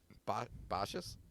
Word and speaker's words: Baixas: can find, it is a white grape variety from Rias Baixas. Baixas. Baixas. Hey, that was me remembering a pronunciation from like 8 months ago.